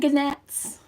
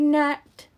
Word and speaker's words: gnat: And gannets. Gannets. Gannets. It's a silent G. That's another one of those rules we have to break to say the English alphabet. It's not gannet. It's just simply nat.